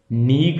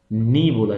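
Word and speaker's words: neigh: horse's नी होता है नी अब ये नी में ना जी एय सब एन ई आई इतने में समझ लो नी हो गया ये सब साइलेंट समझ लो आप ठीक है नीग नहीं बोलना इसको नी बोला जाएगा नी ऐसे करके बोलो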